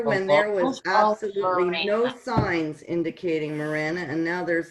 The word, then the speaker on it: Marana: So how do you say it? Marana? I'm new here. It's called Morana.